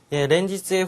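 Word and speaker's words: 連日: 렌지츠의 후리가나가 잘못 달렸네요. 렌지츠니까 한해롱 발음을 넣어서 렌지츠.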